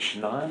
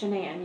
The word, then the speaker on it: Shanann: friends with is it shannon or shanann it's shenan you pronounce it like shenanigans oh everybody calls her